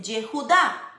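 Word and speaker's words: יהודה: En hebreo, la palabra Judá, o sea, Judá, judíos, Judá, se dice Yehudá.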